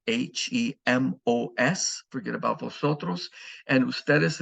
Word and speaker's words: hemos: There will be an H in all the conjugations, but of course the H is silent in Spanish.